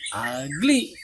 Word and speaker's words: ugly: Nah ugly ini pengucapannya ya ugly ya, itu fonetik simbolnya begitu, ugly diawali dengan suara huruf hidup yaitu a, ugly.